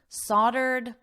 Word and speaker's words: soldered: Wine was also fermented in kettles, soldered with lead. Don't let the spelling influence your pronunciation. So don't look at the word. Listen to my voice. Soldered. Aw ordered soldered, soldered with lead.